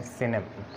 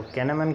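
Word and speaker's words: cinnamon: अब इसको कैनमन क्यों नहीं पढ़ा, क्योंकि हमें मालूम है कि जब सी के बाद आई, वाई या ई आ जाए तो हम उसकी प्रोनाउंसिएशन सा में करते हैं। जब इनके अलावा अगर कोई और स्पेलिंग आ जाए तो हम फिर इसकी का में साउंड करते हैं। तो आप देखें सी आई आ गया है तो हम इसको कैनमन नहीं पढ़ेंगे बल्कि सिनेमन पढ़ेंगे।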